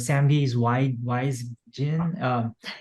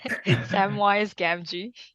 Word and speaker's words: Samwise Gamgee: So Pio mentioned Sam Gee's why I forget how you pronounce it, but Sam Gee's wise Jin. Samwise Gamgee.